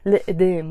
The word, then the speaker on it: القدام: القدام pronounced as لقدام with a liaison.